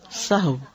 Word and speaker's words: سہو: بھی درست کر لیں۔ سہو جیسے لغو، ٹھیک ہے، کرب، نفس، سہو۔ سجدہ سہو کے اسباب،